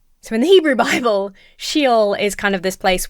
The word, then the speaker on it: Sheol: In the Hebrew Bible, you have Sheol, which I'm probably pronouncing that wrong, so I apologize. Do you know what? I should look it up instead of just getting it wrong. Okay. Pretty much everybody seems to be saying she-ole.